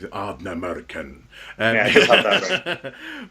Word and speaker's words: Ardnamurchan: burial up in Scotland, which I always want to say it like it's something from Lord of the Rings, Ardnamurchan.